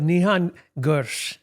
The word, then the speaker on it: Nihan Gur: We have a special guest this episode, Nihan Gur. Yes. Did I pronounce that even remotely correct?